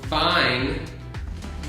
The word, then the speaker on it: fine: uh yeah and then fine vine is like this like this but the uh the f and the v f is like the no voice yeah and v has the voice so if you touch